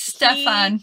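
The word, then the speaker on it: Stjepan: I think it's Stefan, by the way. I'm sorry. Oh! The J is silent. Yes. And then the P is an F. Sure, rather than P.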